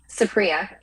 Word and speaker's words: Supriya: It's Supriya. Supriya. I was close. I was so close.